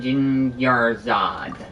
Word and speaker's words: Dunyarzad: I'll be good to go uh you actually pronounced it right this time J your Zod I didn't realize you were concerned about it